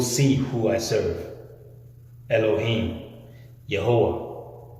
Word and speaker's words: Yehowah: Elohim, Yehowah. You may know him as Jehovah, the same God. It's just different pronunciations. But Yehowah is his name.